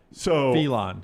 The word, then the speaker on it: Philon: PHI dash LAWN is not going to show up. That's the right pronunciation.